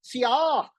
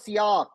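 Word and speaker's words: sillage: It's a French word pronounced as sak. Sak means you apply a perfume and walk around. Others will get a a cloud or a mist of perfume. That's called sak.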